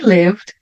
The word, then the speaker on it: lived: Não vou pronunciar o I, né? Letra E. Então, vai ficar lived.